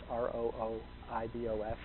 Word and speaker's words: rooibos: And it looks like rooibos, R-O-O-I-B-O-S. The spelling, it's pronounced rooibos.